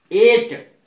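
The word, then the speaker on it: eight: जी एच के उपरांत टी हो तो जी एच का उच्चारण नहीं होगा। नाइट, एन आई जी एच टी नाइट, इसमें जी एच का उच्चारण नहीं है। एट, एट माने आठ, नाइट माने रात।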